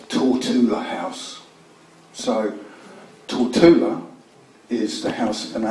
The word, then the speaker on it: Tortola: there is only taught in the house so till Tula is the house of a named after the